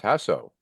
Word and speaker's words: Jasso: today is roxan and you said I was pronouncing it wrong it's hasso yes hasso yes roxan hasso one of our